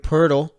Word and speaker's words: Poeltl: And then you had Jakob Poeltl. There's no R in his name either, but for some reason that's how the announcer's pronounced. So I guess that's how it's pronounced.